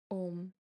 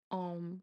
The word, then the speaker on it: Om: So the mantra is Om or Om, like there are different pronunciations of it.